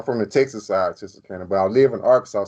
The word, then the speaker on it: Texarkana: Texarkana? That's how you say it. Texarkana area Yeah, where they Texas.